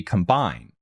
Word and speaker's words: combine: first meaning would be combine with the emphasis on the second syllable which is a synonym